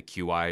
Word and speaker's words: Qi: Lumia Icon based on the QI or Chi platform however you want to pronounce that I'm I'm a little